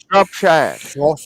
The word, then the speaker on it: Shropshire: Shropshire.